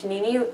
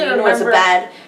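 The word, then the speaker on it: Jeanine: You said Janini? Yeah, I do. That's how I pronounced her name for so long. Janini? Janini. That's how I said her name. Janine. How do you say her name? Janine. Janine, okay. That's how everybody says her name.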